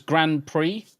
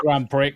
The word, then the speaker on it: Grand Prix: Or it could be just Brie, because Grand Prix, and you don't pronounce the X, it's just an E sound.